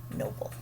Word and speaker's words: noble: We cross out the E. Our O gets a macron. Noble. That's because we have that open, when it's two syllables, we have that open O, so it gets the macron. It says its name.